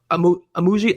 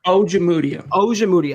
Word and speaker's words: Ojemudia: I wasn't the biggest fan of Amuji. I can't ever pronounce his name, Chad. Michael, say it one more time. Ojemudia.